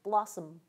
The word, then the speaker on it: blossom: some people call schah that vowel is so short that we often don't pronounce it at all we just go right from the into the nasal M sound Blossom the M itself becomes